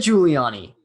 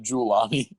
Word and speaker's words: Giuliani: actual giuliani i said giuliani you said julani no it did not